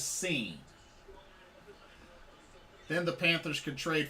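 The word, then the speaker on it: Cine: go they selected louis sign safety out of georgia so louis sign georgia safety or lewis seen seen i said his name wrong lewis seen then the panthers could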